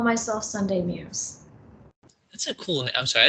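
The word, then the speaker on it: Muise: is muse and um it's actually spelled m-u-i-s-e and it's pronounced muse and i actually love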